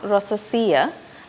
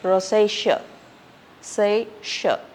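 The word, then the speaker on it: rosacea: have a skin condition Rosa it's not rosaia it is Rosa say and then we have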